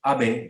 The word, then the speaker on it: Abe: says that shinzo abe remember the pronunciation for the former japanese prime minister is abe shinzo abe and he launched it